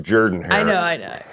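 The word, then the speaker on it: Jordan-Hare Stadium: is traveling to Auburn they are playing at Jordan hair Stadium on ESPN at 6:30 p.m. Texas A&M is favored by two and a half points it's actually pronounced Jordan her I know I know say that um spell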